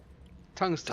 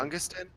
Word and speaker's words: tungsten: Tungsten. Tungsten? Tungsten. Yeah, tungsten. Don't pronounce the G, just like tungsten.